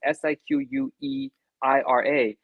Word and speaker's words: Siqueira: I'm gonna Siqu. It's a really tough name for me to pronounce because I've never seen it in words, in letters, so I'm not sure how, but it's Siqueira.